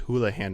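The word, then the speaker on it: Houlihan: you can access uh it's called the Chris hoolahan room that's how you pronounce his last name I used to pronounce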